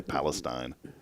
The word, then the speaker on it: Palestine: How many people say Palestine? Not no, many. it's Palestine.